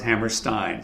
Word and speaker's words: Hammerstein: okay no but ville Hammerstein said to me like Steinway pianos Hammerstein so that's the thing to